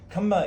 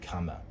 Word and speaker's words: kamma: Kamma is a Pali word for karma, just different pronunciation. If you hear me saying kamma, it's just karma, okay?